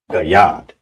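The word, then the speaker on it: גיד: Now, how you pronounce this? Is Gayad. That's how you would say it.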